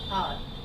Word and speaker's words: hour: For example, I'll meet you in an hour. Okay. So here also this H is pronounced silently, right? Our. We don't pronounce our, we use our. No? So I will meet you an hour, okay?